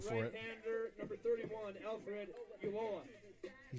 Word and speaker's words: Ulloa: 31 is Alfred Ulloa. Give me a pronunciation on that, Rachel. It looks like Ulloa to me if we're pronouncing the double L like a Y sound.